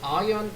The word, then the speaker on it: iron: suppose 가정하다 하니까 가정된, 추정되는 high iron content. iron은 철. R이 발음이 아니죠.